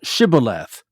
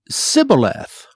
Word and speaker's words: Shibboleth: If he said, Nay, then they said unto him, Say now, Shibboleth. And he said, Sibboleth, for he could not frame to pronounce it right.